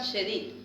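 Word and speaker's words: ידיד: Por mi amado significa Yedid, acento en la I.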